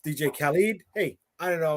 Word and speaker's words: Khaled: another one oh my God uh uh uh DJ Khaled right who actually pronounced DJ Khalid hey I didn't know I was wrong but